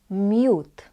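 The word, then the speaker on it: miód: just this white cheese and honey which is mute. Mute. So here in these two words you have O with a dash which is pronounced as U.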